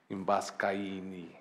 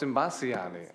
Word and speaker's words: Imbasciani: Vito Imbascaini. You know, did I pronounce it correctly? Imbasciani. Oh, it's Imbasciani.